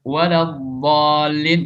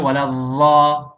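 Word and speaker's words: الضالين: Wa mithlu, dan contohnya waladhdallin dibaca waladhdha, waladhdha.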